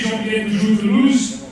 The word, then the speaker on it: Jean-Pierre Toujours-Toulouse: So, my name is Jean-Pierre Toujours-Toulouse. That is how you pronounce it.